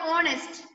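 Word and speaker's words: honest: sound ആണ് അവിടെ വരുന്നത് ഹോണസ്റ്റ് എച്ച് ഓ എൻ ഇ എസ് എന്ന് വായിക്കാം ഓണസ്റ്റ് ഓക്കേ ദെൻ യു ഇവിടെ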